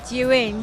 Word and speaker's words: Zhiyun: Anna from Zhiyun, so this is the correct pronunciation for Zhiyun. Now you know, because I don't say it right.